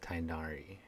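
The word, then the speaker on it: Tighnari: Oh, this is my master, Forest Watcher Tainari. He is chief officer over all the rangers here in Gandharvaville. Ah, so the G is silent, so just Tainari.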